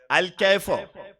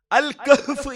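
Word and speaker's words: الكهف: അപ്പൊ ആ കുട്ടി എന്നോട് പറയാണ്, അല്ലെങ്കിൽ ആ മുജാഹിദുകാരൻ എന്നോട് പറയാണ് അൽ കൈഫോ. അപ്പൊ ഞാൻ ചോദിച്ചു, എന്താ അൽ കൈഫ് എന്താ സാധനം? അൽ കഹ്ഫ് എന്ന് പറയൂ സഹോദര.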